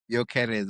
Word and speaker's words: Gyökeres: You pronounce it. Of which surname? It's like I Gyökeres. said, Gyökeres.